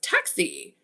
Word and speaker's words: Tuxie: Um, says, "Also, my name is pronounced Tuxie. The one is the I, the three is the E."